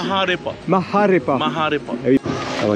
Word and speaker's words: Maharepa: Comment tu prononces? Maharepa.